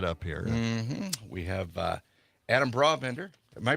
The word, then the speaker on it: Brabender: We have Adam Brabender. Am I pronouncing that correctly?